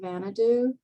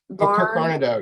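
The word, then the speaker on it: Varnedoe: Is there any correspondence with Kirk Vanadu? With who? Kirk Kirk Barnadow. Yes, yeah. There's a lot, actually. Sorry, I mispronounced that.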